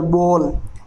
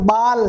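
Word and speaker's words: ball: Toll, एक बात का ध्यान रखिए, इसे काल, बाल, वाल, टाल नहीं कहते हैं, इनकी साउंड है कोल, बोल, टोल, वॉल, इस प्रकार से रहेगी।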